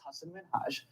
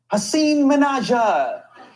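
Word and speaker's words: Hasan Minhaj: my parents are here it's Hass minhaj and people always mispronounce it they're always like Hass minja hsein I'm so sorry I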